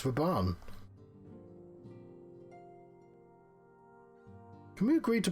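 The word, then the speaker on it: Raubahn: Rauburn? Who the fuck's Rauburn? It's Raban.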